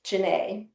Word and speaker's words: Ginnae: Oh, you can tell him it's Jin like the drink and oh nay. Nay as in hay.